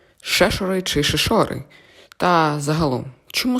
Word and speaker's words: Шешори: мають іншу думку підсумовуючи наголос пропадає на літеру е Отже кажемо Шешори що ж стосовно другое